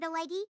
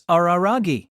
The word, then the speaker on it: Araragi: my name and instead ask you not to make it sound like I'm the Chunichi Dragon's mascot. It's Araragi.